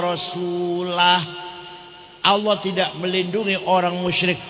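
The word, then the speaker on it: رسوله: Wa annallaha bari'um minal musyrikin wa rasulih. Allah tidak melindungi orang musyrik dan tidak melindungi Rasulullah. Salah. Yang benar bacanya wa annallaha bari'um minal musyrikin wa rasulah.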